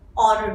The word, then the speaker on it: honor: In honor, even though it is beginning with H, we will pronounce it an honor, right? Honor. So o is actually a vowel sound, hence you will use an.